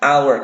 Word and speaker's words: hour: Pasti an hour. Kenapa? Karena H-O-U-R, hour. Itu bacanya bukan hour tapi hanya hilang hour, A huruf awalnya.